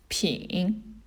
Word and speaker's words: 品: bottle right it means to taste and it's pronounced as ping it makes sense right you've got three mouths